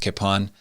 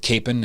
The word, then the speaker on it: Kapaun: the name pronun pronunciation it's a Czech name which is pronounced Capon I believe many of